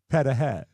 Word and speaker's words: pierogi: Or as the true Polish say, Mike, pedahe. Is that how it's pronounced? That's the Polish word Hold for on, pierogi. that's the real pronunciation of Pedahe.